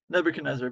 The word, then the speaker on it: Nebuchadnezzar: for coming how do you say your name Nebuchadnezzar but you can call me neb cool you're